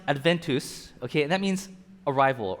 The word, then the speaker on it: adventus: from the latin word right here it's it's pronounced adventus okay that means a rival or the arriving